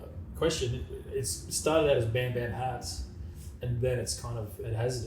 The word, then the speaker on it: BXM: So I call it's called Bam Bam, but it's more than just hats now. Yeah. And it's spelled BXM.